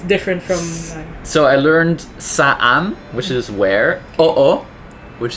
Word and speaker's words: Saan: Saan, that's how you pronounce it. Saan. Yes. So anytime you have, what do you call this, Tagalog words that have two vowels in it, you pronounce them separately. We don't have silent letters in Tagalog.